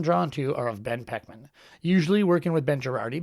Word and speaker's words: Poechman: screen, I guess, it might look like Ben Poechman, but it's pronounced Poechman.